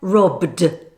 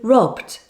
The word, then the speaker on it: robbed: By the way, the E in between the stop consonants is silent. Just like pt and kt, there is only one main explosion of air at the end.